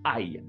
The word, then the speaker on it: aille: Pour le verbe aller en rouge, c'est la même prononciation que si vous frappez un Français.